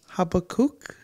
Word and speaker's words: Habakkuk: I think it's Habakkuk.